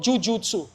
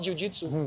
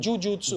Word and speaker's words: jujutsu: He found that art, we call jujutsu, not jujitsu, jujutsu. Jujutsu. It's a Japanese pronunciation for the same.